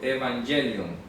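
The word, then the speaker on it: εὐαγγέλιον: viene el griego evangelium voy a ponerlo con y para que lo lo pronunciemos en griego evangelium así se dice en griego el anuncio el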